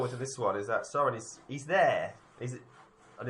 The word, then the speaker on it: Sauron: Soren. Have I pronounced that right? Who? Sauron.